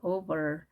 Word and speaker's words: over: 이때 쓰는 표현 over입니다. over. R 발음 약하게 하기도 하고요. over.